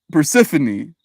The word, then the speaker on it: Persephone: It's like the names Calliope, Penelope, Persephone. The accent is one of the second syllables and the final E is pronounced. Hyperphony. Persephone.